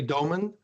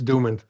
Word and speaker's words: Doomen: and it feels correct it's actually doen but in English it's dooman I it completely makes sense